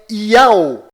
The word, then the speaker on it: YAU: Vídeos é o que não vai faltar para você perceber que a verdadeira pronúncia destas três letras sagradas é Yao.